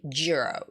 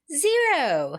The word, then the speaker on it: zero: That's the troublesome word cuz when you say zero, a lot of Koreans we say jurro. Jurro. Jurro. It sounds like you're very pissed off or sad or upset or something. So, jurro. No, it's zero. You have to be happy. You have to look happy. It's like zero. Okay. You have to smile to make the right sound for zero.